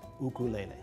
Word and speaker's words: ukulele: The Hawaiian correct pronunciation is ukulele. Put a little apostrophe in front of the U for that sound.